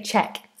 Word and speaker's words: Czech: This is always an interesting one because it's C um a C and then a zed, but we say ch. Czech Republic. And sometimes we just say ch. Um, sorry. Sometimes we just say check.